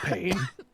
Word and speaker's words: pain: You could say pain, but in French it's pain, and pain is bread.